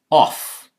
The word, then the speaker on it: of: Here's off. There it's of, F changed to V also.